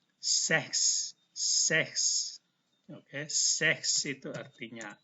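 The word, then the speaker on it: sechs: CH itu mirip dibaca seperti K tetapi halus. Seks.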